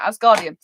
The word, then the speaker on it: Asgardian: potter or something um asgardian asgardian is how you pronounce it yeah asgardian so asgardian is his